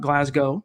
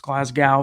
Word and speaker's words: Glasgow: four-year deal with Graham Glasgow which is how I believe it's pronounced it's not Glasgow it's Glasgow from what I've been told four-year deal 44 million